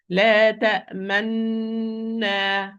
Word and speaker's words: لا تأمنا: I'm going to pronounce it with ishmam like this. لا تأمنا.